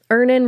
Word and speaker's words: Earnin: Download Earnin on the App Store or Google Play, spelled like earning money without the G.